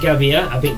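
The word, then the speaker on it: Gabbia: Mateo V to get matio gabia that's how you say his name um ball playing Defender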